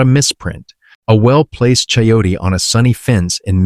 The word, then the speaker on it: chayote: Chayote, pronounced chay-o-tay, is a perennial vining plant from Central America that produces an apple-sized, pear-shaped fruit with a single seed.